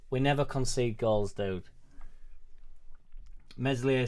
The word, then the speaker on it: Meslier: Meslier Silent S has been at fault for 2 of the 3 goals.